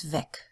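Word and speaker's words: weg: the three-letter W because if it means the path and it's just a word on its own it's vague but if it's a prefix it's ve and um you can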